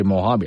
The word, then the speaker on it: Mojave: So you're supposed to say Mojave.